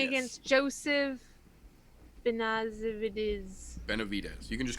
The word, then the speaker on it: Benavidez: he's blue going against joseph vanassa vit is Benavidez you can just call him mr.